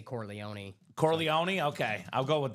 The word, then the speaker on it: Corleone: Is it Corleó? Corleone. How do you say it? Whatever. I mean, either one. I've heard either. Okay. Corleone. Corleone. In the movie they say Corleone.